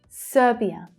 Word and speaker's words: Serbia: Serbia. So that stress is on the first syllable.